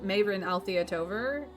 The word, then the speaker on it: Mayrin Althea Tover: But I'm May, or I mean Mayrin Althea Tover. I mean, that's how I pronounce it. There are other pronunciations I will accept, and basically just call me May, like the month of, but spelled wrong.